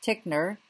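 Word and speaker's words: Titchener: In the U.S., we had Wundt's student named James Tickner, that's how you pronounce his name, who became one of the earliest professors of psychology at Cornell.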